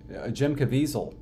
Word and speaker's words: Caviezel: Jim Caviezel. That's how you pronounce it, sure. It's also how he pronounces it.